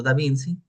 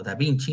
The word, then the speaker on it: da Vinci: Ingenieros como Francesco di Giorgio, Martini o incluso Leonardo da Vinci, o da Vinci, más bien por la pronunciación del italiano, ¿verdad?